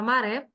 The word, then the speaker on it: maré: Nós temos na palavra maré uma oxítona terminada em e, daí o porquê que ela é acentuada.